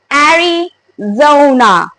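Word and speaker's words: Arizona: वन इज एरिजोना एरी we have to से it like a buzzing sound here in जी सो इट्स एरिजोना next is Indiana we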